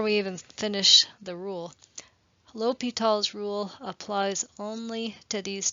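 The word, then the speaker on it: L'Hôpital: But it's actually the name of a French person, his last name. And so the pronunciation is Li Tall.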